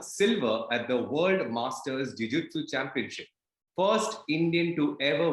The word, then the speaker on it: jiu-jitsu: Am I pronouncing it right? सबसे पहले तो यही सवाल है. Yeah, you're pronouncing it right. So jiu-jitsu is basically it's a Japanese term, and it's the sport we are doing now.